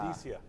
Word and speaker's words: Vindicia: From Vindicia, is that right? Or Vindicia? Vindicia. Vindicia. Yeah, cool. Somewhere in the middle. All right, emphasis on the wrong syllable, sorry.